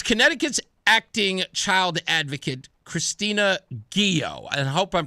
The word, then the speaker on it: Ghio: I haven't had the chance to meet her yet or to talk to her, but I think it's Ghio, g h i o.